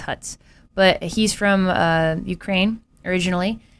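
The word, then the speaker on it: Hütz: It's like an H and then a U with an umlaut and then a T and Z. So I think it's Hutz.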